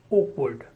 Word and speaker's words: awkward: word 13 is awkward Oh as in organized ordinary and then word awkward as you know in the standard British variety of English the sound room is not spoken unless it is followed by a vowel sound so the word 13